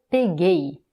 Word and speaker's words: peguei: Maintenant, on va le conjuguer au passé composé, au pretérito perfeito, et on va dire eu peguei, eu peguei. Maintenant, c'est la dernière syllabe qui est la syllabe forte, eu peguei.